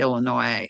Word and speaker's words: Illinois: The S is silent You're a Every time I go back to Illinois, I stand down at his at his graveite and I salute him.